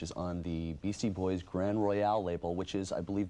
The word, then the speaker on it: Grand Royal: It's Grand Royal. It's spelled... People have been saying Royale. Even though there's no E on the end of it, it's just a thing people do.